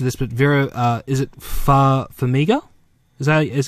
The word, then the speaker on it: Farmiga: So we've got I'm pretty sure I'm going to butcher this, but Vera, is it Farmiga? Is that how you pronounce it? Yep. Yeah. Yep. Farmiga.